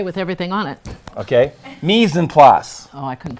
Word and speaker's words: mise en place: Mise en place. Oh, I couldn't pronounce it.